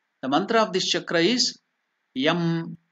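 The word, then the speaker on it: यं: confusion so it's not yam it is yam or Y it has to be the pron pronunciation the uh the nasal thing has to stand there in the nose so it is y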